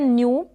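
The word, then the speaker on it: knew: फिर ये है न्यू, एन को न पढ़ा जा रहा है आधे न के रूप में, और EW को यू प्रोनाउंस कर रहे हैं यहाँ पर, जैसे हिंदी में मैंने यहाँ पर प्रोनाउंसिएशन दिया है।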